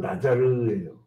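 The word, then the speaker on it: נזיר: 히브리어는 나자를 이렇게 발음하는데 여기 나라 이 그 할아버지들이 일제시대 때 번역하면서 히브리어는 나자르예요.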